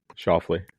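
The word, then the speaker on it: Schauffele: Shoffley.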